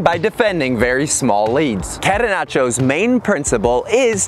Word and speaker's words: catenaccio: The pronunciation is catenaccio, and the catenaccio soccer term is an Italian word for door bolt.